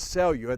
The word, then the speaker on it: Selio: of mine and and his name is cellular that's the way it's pronounced so you in Portuguese and so you as